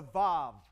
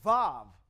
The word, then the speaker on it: vav: system which is the VAV the VAV makes a v sound the influence and dialect